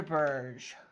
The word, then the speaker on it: Berge: pronounce his name okay I watched a video of people asking him how to pronounce his name and so I'm saying it sander Burge because he gave like three different ways of saying it in that interview and said that it's fine and Burge is okay